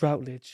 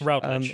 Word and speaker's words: Routledge: Miles Routledge. Routledge.